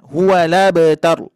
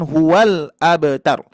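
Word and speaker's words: هو الأبتر: Dipindahkan dari hamzah ke lam. Ya, jadi harokat hamzah dipindahkan ke harokat lam. Jadi gimana Pak Bu? Huwala. Huwala. Ya, huwala betaru. Bukan huwal abtar.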